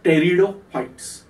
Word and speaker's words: pteridophytes: Whereas vascular plants we are classifying as, I am writing here P, but we have to pronounce as pteridophytes.